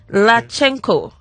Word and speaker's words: Latchenko: it's let me try and pronounce this and pronounce it right lachenko did i get it right yeah yeah i